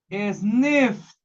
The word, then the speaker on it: sniffed: Se va a pronunciar como T. Sniffed.